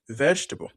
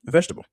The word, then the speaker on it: vegetable: Vegetable. Vegetable.